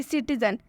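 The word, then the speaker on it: citizen: जैसे कि सिटीजन, सिटीजन में सी के बाद आई आया तो इसका उच्चारण सी में स से होगा।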